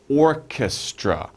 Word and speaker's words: orchestra: these we're looking for Orchestra Orchestra three syllables Orchestra Orchestra an orchestra the philarmonic